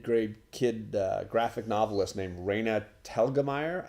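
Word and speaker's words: Raina Telgemeier: kid graphic novelist named Reyna talgamite I think is how you say it she's got a bunch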